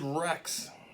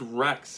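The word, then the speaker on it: Wrex: Renegade Rex, and it's spelled W-R-E-X.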